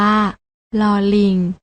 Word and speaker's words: ล: นี้ ค่ะ รอ เรือ ส่วน พยัญชนะ ตัว ที่ 2 และ 3 อ่าน ออก เสียง โดย ไม่ ต้อง กระดก ลิ้น อ่าน ว่า ลอ ลิง กับ เรา จุฬา น้อง ๆ อ่าน ออก